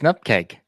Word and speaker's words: NUPKG: The right way is Nupkeg. The right way is Nupkeg.